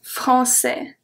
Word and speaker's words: français: So the CCD is pronounced as a S always. And then we have A-I-S that makes the sound E. We just saw that with mais. It's the same thing. A-I-S makes the sound E. En français.